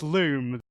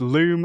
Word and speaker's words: Lum: It is pronounced loom. The spelling is L-U-M, but it's pronounced loom as in doom because they are luminous.